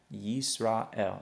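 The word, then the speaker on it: ישראל: shva inside the word, there is a rule that says you're not going to pronounce that shva, that it's going to remain silent. Okay, so this would actually be pronounced as yis.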